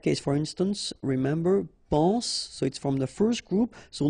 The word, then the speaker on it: soit: Okay, then of course être and avoir, so être will become soit, remember final S is not pronounced, soit, then soyons, soyez, all right, soit, soyons, soyez.